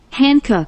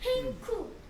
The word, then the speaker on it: Hancock: 미국 사람들은 얘를 이렇게 발음하네. Hancock. 한국 사람들은 얘를 뭐라 그런지 알아? 한국이래. 한국. 한국. 나 미국 사람 말 들어본 적 없는데. 이게 H가 행쿡. 행쿡 이렇게 미국 그래 미국 사람은 행쿡 이러는데 우리는 한국이라 그래 한국.